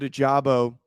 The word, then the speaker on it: Ojabo: It's not bam. It's bomb. Okay. Bomb. They managed to also get David Ojabo, who they benefit from him recovering from an Achilles injury.